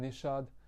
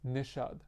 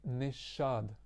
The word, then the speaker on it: Nishad: Like for me it's nishad right some people don't understand and it's always that conversation like what misha nisha whatever so I always say nishad like I'd say slowly in two syllables so it's easier